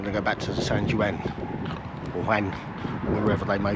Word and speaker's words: San Juan: of Alicante, which is called San Juan, I think it's pronounced, or it's St John or Juan or something along those lines.